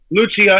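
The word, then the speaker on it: Lúcia: eat and drink so lucia lucia as you pronounce it in portugal lucia and jacinta eat and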